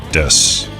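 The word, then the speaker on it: です: desks or dessous is technically desks ooh but pronounced desu people choose to pronounce it however they want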